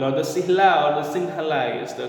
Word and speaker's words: Sinhala: the similar people or the Silla or the Sinhala is the correct pronunciation and they are the majority community in